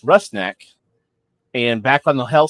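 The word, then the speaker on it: Rusnák: And Albert's last name is pronounced Rust Neck.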